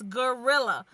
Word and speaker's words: guerrilla: Guerrilla, like a gorilla, but it's spelled Guerilla, guerrilla marketing.